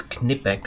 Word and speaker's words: Knipex: It's Knipex. So you pronounce the K.